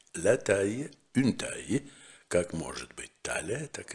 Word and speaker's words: taille: Eh bien, le mot suivant, c'est la taille. La taille, une taille, как может быть таля, так и размер.